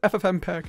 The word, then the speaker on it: FFmpeg: there's a problem i haven't mentioned yet it's pronounced ffmpeg ffmpeg is the reason watching youtube videos is